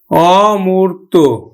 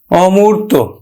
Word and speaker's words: অমূর্ত: উচ্চারণ হবে যেমন অমূর্ত অমূর্ত তাহলে দেখো নেতিবাচক অর্থ মূর্ত নয় মানে দেখা যায় না অমূর্ত নয় মূর্ত তার মানে নেতিবাচক অর্থ অর্থ প্রকাশ করছে এজন্য কিন্তু আদ্য অটা অ এর মত উচ্চারণ হবে তাহলে আমরা উচ্চারণ করি